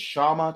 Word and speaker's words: Kshama: So that's one of the reasons why I'm like, it's Kshama, just the K is silent.